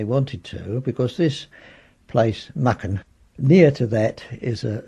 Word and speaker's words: Mucking: Mucking is a place that I've got a very strong loyalty to, and they pronounced it then Mucken.